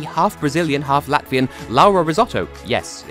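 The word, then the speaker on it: Rizzotto: Brazilian half Latvian Laura risotto yes it's it spelled differently but it's pronounced the same as the rice dish ler let's get all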